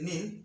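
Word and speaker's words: knee: আবার বলছি, ইংরেজি শব্দের শুরুতে কে-এন থাকলে কে-এন এর উচ্চারণ দন্তন্য হবে।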